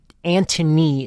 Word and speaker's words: Anthony: So you have Antony is, I believe, how they say it, but it's spelled like Anthony.